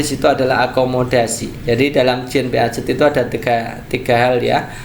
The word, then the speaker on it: Jean Piaget: Saya dikomplain karena ini bacanya bukan Jean Piaget kak, tapi Jean Piaget ya, Jean Piaget ya.